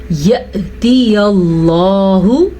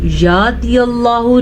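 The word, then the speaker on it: يَأْتِي: یا سائلنٹ ہے، لکھنے میں ہے، پڑھنے میں نہیں ہے. یأتی اللہ، یأتی اللہ، یاتی اللہ نہیں پڑھنا، ہم نے پڑھنا ہے یأتی اللہ بأمرہ، بأمرہ.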